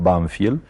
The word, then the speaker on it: Banfield: el pueblo se llamaba nosotros lo pronunciamos banfiel y es un pueblecito